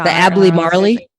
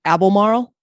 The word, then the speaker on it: Albemarle: So it's actually pronounced the Albemarle.